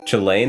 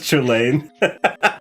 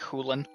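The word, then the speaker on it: Chulainn: Chilane, that's not how you pronounce his name. That's how his name looks like to me, but I'm not Irish. It's pronounced Chilane. Okay, so it's Irish, I see. Yeah. It's not... It's supposed to be that, like, the C is soft, so it's like Hulan.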